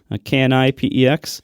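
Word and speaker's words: Knipex: And I have the the I think this brand is pronounced Nipex, Ki Pex. If you watch Project Farm, it's Kipex.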